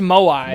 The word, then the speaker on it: moai: is like sitting looking at his screen with the fucking moe as like his actual face.